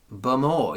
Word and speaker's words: Bowmore: I asked people how they pronounce this and held the bottle up, and people were going, Bowmore, and someone went, Bumor? I went, Bumor, yes. Or as one person said, Bummore.